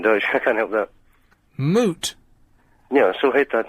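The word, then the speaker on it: Moët: I can't help that moot yeah I so hate that that's what you call it in um in Dutch m o e t is moot but Dutch doesn't have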